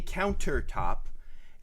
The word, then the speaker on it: countertop: How Northwest people pronounce a countertop is we don't enunciate the T. And so we say counter. countertop. It's like count, and then there's this weird sound.